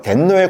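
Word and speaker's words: 天皇: 천황이라고 부르니까 제가 이제 천황을 덴노라고 말한다고 말씀을 드렸는데, 천황을 일본어로 발음하면 덴노, 그래서 독일에서는 뭐 황제를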